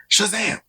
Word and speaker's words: Shazam: Comics pull list is Shazam you got to say it like that Shazam issue number seven uh